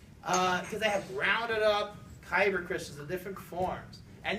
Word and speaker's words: kyber: It rhymes with cyber. It's kyber crystals.